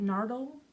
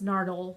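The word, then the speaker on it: Nardole: And is it Nardle? Is that how you say it? I don't know. I think it's Nardle from The Husbands of River Song is Back. N A R D O L E. That's how it's spelled.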